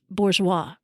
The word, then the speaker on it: bourgeois: I call out hey Einstein the word is pronounced Bourgeois try not to choke on it next time